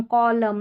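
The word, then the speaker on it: column: यहाँ पर देखिए एम और एन के कॉम्बिनेशन, और एन लास्ट में जो आ रहा है ना वो साइलेंट। ऑटम, कॉलम, और पढ़ेंगे तो पढ़ा भी नहीं जाएगा, इसको हिम करके पढ़ दिया।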